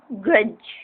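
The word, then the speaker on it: grudge: नो ग्रज, ये इसमें D silent होगा, ग्रज इसको पढ़ेंगे।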